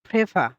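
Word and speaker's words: Pfeffer: ঠিক আছে তো এরপরে যেটা আছে সেটা হচ্ছে ফেফা এটা হচ্ছে ফেফা ফেফা এরকম উচ্চারণটা হবে ঠিক আছে ফেফা আবারো বলতেছি এটার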